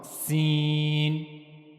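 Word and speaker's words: سين: So that's how you can easily pronounce scene. Scene. Okay. So for pronouncing scene you have to put the tip of the tongue near the inner plates of the upper central incizes.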